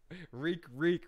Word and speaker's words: Reek: Reek rhymes with freak.